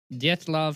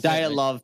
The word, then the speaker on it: Dyatlov: said de PA I I'm pretty sure I said said it wrong death love pass that's diet love pass is how you're supposed to say it R